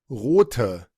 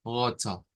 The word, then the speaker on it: rote: que era rot, Rote, y ahí se agrega un shua al final. Entonces, vamos a pronunciarlo, incluso se separan las sílabas, porque esta T se vuelve una sílaba aparte, o sea, ya no es una palabra monosílaba como al principio, sino que se hace bisílaba y la pronunciamos como roto, roto.